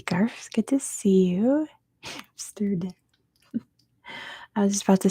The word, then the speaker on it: Amsterdam: I was just about to say, in California, if we have words that have the MST together, we throw a P in there, so we pronounce it Amsterdam. I have no idea why. It's really hard to not throw a P in there. Amsterdam. It's not Amsterdam.